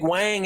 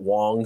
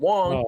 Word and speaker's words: Wang: But our boy, Big Wang out there, I think he actually pronounces it Wong, so I need to be better about that. But Wong, you know, had 273